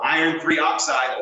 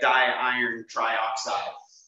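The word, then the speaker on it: iron(III) oxide: introducing these right so Iron III oxide or Fe2O3 not iron two oxygen three that'd be the incorrect way to say that or people always want to say like die iron trioxide don't do that we only use that those prefixes when we have a covalent compound which we'll add next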